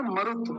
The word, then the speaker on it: मरुत: शब्द देख रहे थे मरुत मरुत मरुत में जल्दी बोला जाता है तो ये छोटा उ बनेगा मरुत जल्दी बोला गया नाय छोटा उ जब छोटा उ बनाते तो बस ऐसे कर दिया जाता है